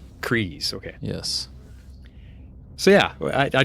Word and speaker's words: Kryze: Is that how you pronounce it? Kryze? Kryze, okay.